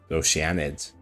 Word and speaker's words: Oceanid: pronounce it o oenid I thought it was just it was just oceanid you know like ocean okay oid H so